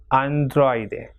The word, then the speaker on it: androide: When O and I comes together, again the O will be stressed more, that is androide.